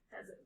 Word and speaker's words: pheasant: So a pheasant is a type of bird, but it's spelled with a PH. But listen to the sound. Fat pheasant. It's the same sound.